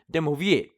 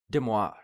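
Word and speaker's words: De Moivre: I pronounce this incorrectly, would be pronounced as De Moi Vr, which if you put it together would be Demoir.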